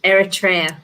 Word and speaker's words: Eritrea: all ships hopefully so um but greg eritrea eritrea yeah that's how you country uh eritrea we've